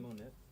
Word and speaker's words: Monet: Isn't it Monet? Because there's a T at the end. Yeah, Monet. That's how you pronounce it. It's French.